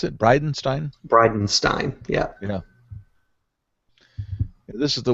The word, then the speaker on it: Bridenstine: Is that how you pronounce it? Bridenstine? Bridenstine.